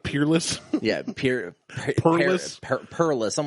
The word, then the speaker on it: Peerless: this so we're talking words they mispronounced we're talking about blanton's gold like the blanton's gold episode like pearls instead of peerless yeah perlis i'm like